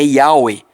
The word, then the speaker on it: Yahweh: Ao analisar inúmeros manuscritos contendo o nome do eterno Yud-Heh-Vav-Heh, conclui o rabino James Stream que a pronúncia correta é Yahweh, em concordância com os maiores especialistas sobre o tema, usando o termo Yahoo.